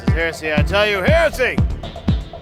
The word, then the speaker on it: Heresy: I tell you, Heresy! We should pronounce it right. A lot of people pronounce it Hershey. And I'm like, there's only 1 H in that, brosh. There's just 1 H.